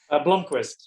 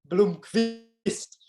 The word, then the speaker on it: Blomqvist: How do you pronounce it? Blomqvist. Yeah. Yeah. You're just missing an O, right? I mean, am I right about that? Blomqvist. It's Yeah. Blomqvist. I mean, in Sweden they pronounce it Blomqvist, but it's too complicated for me, mate.